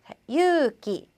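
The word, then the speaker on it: 勇気: 자, 유기, 유기 앞에 있는 유를 그냥 길게 발음해 주시면 됩니다.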